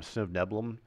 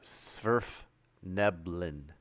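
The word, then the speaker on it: svirfneblin: are Little Gnome guys I always call them sniv nebulum so surf nebulin okay that's good tazloy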